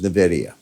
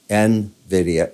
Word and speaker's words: Nvidia: the near term is NVIDIA Nvidia is the right way to say it by the way not Nvidia the way I did it Nvidia uh down out